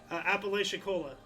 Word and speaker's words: Apalachicola: helping me with a weird Florida word that's pronounced Apalachicola, like, and I'm not even sure where. Oh, here we go. Apalachicola.